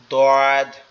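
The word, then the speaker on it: ضاد: সদটা তো আমরা পড়লাম দ্বদের উচ্চারণটা একটু কঠিন সেটা হচ্ছে আমাদের জিহ্বার যে গোড়ার অংশ অর্থাৎ জিহ্বার যে অংশটা আমাদের গালের ভিতরে লেগে আছে এই অংশটা আমাদের ডান পাশের উপরের মাড়ির সাথে লাগবে ডান পাশের উপরের মাড়ির সাথে এটা এরকম ভাবে হবে দদ মানে জিহ্বাটা একটু বাকা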